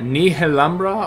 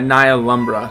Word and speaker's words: Nihilumbra: game Ni lumbra or ni lumbra or it's it's one of those titles where everyone says it different and everyone thinks they say it right so I say Nia lumbra so just bear with me there and give me some Grace but anyways I'm playing